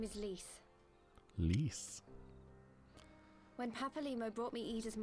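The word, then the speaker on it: Lyse: I love that her name, if you pronounce it phonetically, is Lies. Lise.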